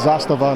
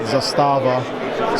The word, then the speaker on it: Zastava: And by the way, that's how you pronounce it. It's Zastava, not Zastava.